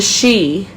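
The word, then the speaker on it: sidhe: we left i believe they are of the she which means uh gaelic it's gaelic for fairies okay it's spelled s-i-d-h-e kind of weird but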